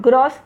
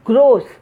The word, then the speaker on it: gross: And this is not gross, it is gross.